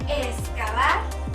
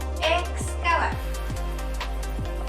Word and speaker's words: excavar: Otro ejemplo puede ser la palabra excavar. Si la dividimos en sílabas, nos damos cuenta de que la X aparece al final de la primera sílaba, por lo que tendría que pronunciarse o bien como una KS, o si el hablante lo elige y lo pronuncia de una manera más relajada, puede articularlo como una S, así, excavar o bien excavar.